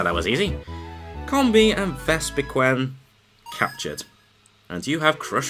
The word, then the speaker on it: Vespiquen: And apparently it's pronounced Vespiquen.